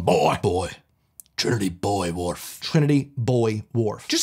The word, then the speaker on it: Trinity Buoy Wharf: It's not a wharf for boys. What's up with this? What about the girl wharf? So I'm adding this one. You could pronounce it either way regionally.